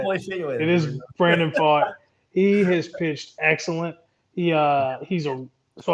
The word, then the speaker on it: Pfaadt: It is Brandon Pfaadt.